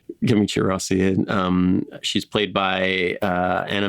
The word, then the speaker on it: Camicie Rossi: It's Camicie Rossi, I'm pronouncing it like it's Portuguese. Camicie Rossi.